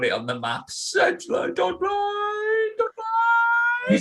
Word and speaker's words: Dudley: Sedgley, Dudley. You're saying this, I'm actually from Dudley, and I can pronounce it right.